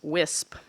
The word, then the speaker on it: WSIP: So the resulting regulations that have been developed by the Commission through their Water Supply Investment Program, WSIP, which I learned they pronounce WISP, fairly well align with the objectives of our Delta Plan.